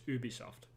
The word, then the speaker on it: Ubisoft: software, like Ubisoft, like Ubi software. So they lengthen it out way too much, sort of thing. But like in France, though, it's Ubisoft, like U, and that's how we pronounce it in Montreal as well.